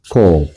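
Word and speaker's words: קוף: 요렇게 일자 내렸다가 코프.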